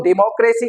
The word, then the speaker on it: democracy: We mispronounce this word, इसकी correct pronunciation is डेमोक्रेसी, डेमोक्रेसी। नाउ यू सी डेमोक, mock पे, mock पे जो है वो हमारा क्या आ रहा है, stress, डेमोक and then C, डेमोक्रेसी।